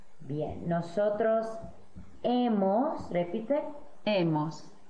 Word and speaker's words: hemos: Nosotros hemos, repite. Hemos. Y han. Han. Muy bien. Se nota que hay un H en cada forma, has, a, hemos, han, pero no se pronuncia la H, solo los vocales, has, a, hemos, han.